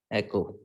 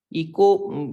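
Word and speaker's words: echo: आती है, this is एको। इको बाहर इको सिस्टम होता है बेटा, इकोलॉजी के अंदर जो पढ़ते हैं सही प्रोनाउंसिएशन एको है।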